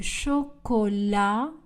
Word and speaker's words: chocolat: Du chocolat. Le T est une lettre muette. Chaud. Le D ne sera pas prononcé. Elle boit du chocolat chaud.